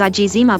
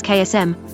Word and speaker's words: eczema: always pronounced it as AA but recently my English boyfriend told me that the only correct pronunciation is KSM the second e is silent and he quite adamant